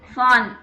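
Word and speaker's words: von: சொன்னால் என்ன யூஸ் பண்ணும், ஃபான். ஃபான் வி வந்து எஃப் ப்ரொனவுன்ஸ் பண்ணும். ஞாபகம் இருக்கா, ஆல்பபெட் படித்தோம் இல்லைங்களா. வி வந்து எஃப் ப்ரொனவுன்ஸ் பண்ணுறோம் இல்லைங்களா, அதே மாதிரி தான்.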